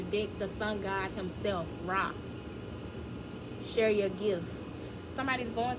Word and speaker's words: Ra: I'm gonna make it real quick. It says, the perfect time is now. Say yes and show up. Ra, pronounced Ra or Re, was the god of